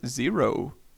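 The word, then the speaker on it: Xero: imagery and details 1971 zero but like spelt with an x zero mammography was commercially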